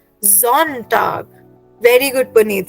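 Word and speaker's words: Sonntag: so Sunday will again have a जी सो it will be pronounced as जोंटग very good Puneet से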